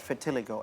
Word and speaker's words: vitiligo: But can you elaborate more about vitiligo and how common is it? Okay. First of all, no offense, Hans. We spell it in English actually in vitiligo.